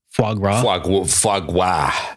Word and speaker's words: foie gras: Foie gras.